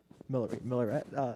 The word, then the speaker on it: Miller: Miller.